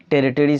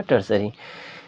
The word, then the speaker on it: tertiary: under the tertiary sector, जिसको आप लोग बहुत कोई टेरिटरी सेक्टर भी बोलते हैं लेकिन एग्जैक्ट प्रोनाउंसिएशन होगा टर्सरी।